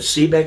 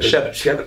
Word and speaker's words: Shebeck: And then, is it Sebeck? Is that how you pronounce it? Shebeck. Oh, yeah, there's an H in there.